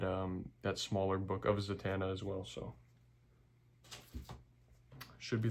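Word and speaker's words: Zatanna: People say Zatana. Zatana. I say Zatana because that's the right way to say it.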